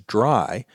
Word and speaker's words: DRY: The first of those is dry code. Now, I'm always going to pronounce that as dry, but it's actually three letters, D-R-Y, which stands for don't repeat yourself.